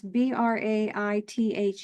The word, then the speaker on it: Braith: and oh and and tell me how to pronounce b r AI t h e brai say it again braith brai okay and it's GIC for